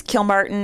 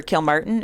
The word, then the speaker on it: Kilmartin: family say it uh I guess either way really yeah wow it's not a huge difference kill Martin or kill Martin it's not huge it's not just I'm